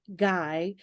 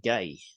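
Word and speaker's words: GAI: needs, the generative AI guy frenzy that started with Microsoft's ChatGPT Copilot announcement has sparked a tech news bonanza. I'm glad you pronounced that because I would have pronounced that gay. Guy. G-A-I. Guy.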